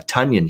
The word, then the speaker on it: Tonyan: for the the packers so you get the pronunciation correct uh tonyan here uh the way to go razor like in